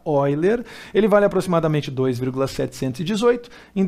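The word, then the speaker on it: Euler: de número de ó ele se escreve eu ler mas se fala oi ler ele vai aproximadamente 2,718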